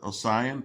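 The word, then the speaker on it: Osian: Welcome to the world, my little sister Ossian, pronounced Ossian, like the body of water.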